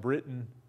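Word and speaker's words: Breton: Yeah, even though the French spelling was usually B-R-E-T-O-N and is often pronounced Britain.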